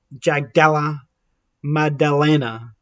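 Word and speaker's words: Jack Della Maddalena: on defense him as in uh Jack um Jag Gala madalena that's how it's pronounced uh but we'll stick with Jack Jack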